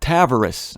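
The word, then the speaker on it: Tavares: proper it's in uh Tavaris or as the locals call tavus I'm sorry to say that but the locals pronounced it tavus as far as I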